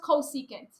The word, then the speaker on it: cosecant: for c o s right so that's that's pronounced cosecant cosecant cosecant is a reciprocal of sine so